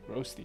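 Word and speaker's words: Rösti: and second one is from Swiss Renault ft okay so talk a little bit about the premium consumable how do you pronounce this Rusty okay roasty yes so what is it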